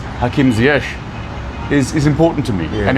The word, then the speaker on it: Hakim Ziyech: But to be able to know that the pronunciation of his name is Hakim Ziyech is important to me, and important that my audience gets to understand that and know that as well.